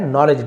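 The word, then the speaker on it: knowledge: यहाँ पे के साइलेंट है, नॉलेज डी भी साइलेंट है, नॉलेज मैंने जैसे पहले कहा आध्यात्मिक ज्ञान एंड डिवाइन ग्रेस, जिसे हम बोलते दिव्य कृपा।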